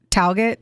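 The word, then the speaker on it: Tallaght: I just throwing Direction t l l a g HT like talget T yeah that's what it is uh Kathleen was married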